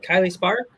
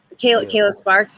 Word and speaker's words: Kayla Sparks: Is it Kylie Spark? Am I saying it wrong? Kayla Sparks, yes, yeah.